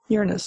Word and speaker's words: Uranus: I pronounce that wrong then Uranus Uranus okay I said it was Uranus No well you can say it like that anyway you're an assembly bruh